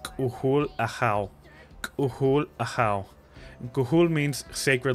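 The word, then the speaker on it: K'uhul Ajaw: Khul a how's full name is pronounced kuhul aa khul aa kuhul means sacred like a god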